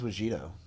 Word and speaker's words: Wajito: Wait, his name's Wajito. It's Wajito. It's like mojito.